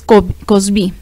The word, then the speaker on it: Kozbí: Aquí lo puse con K porque aparentemente es como la mejor transliteración, aunque no importa, pero la pronunciación según lo que estuve analizando, pues es es cosb, ¿sale?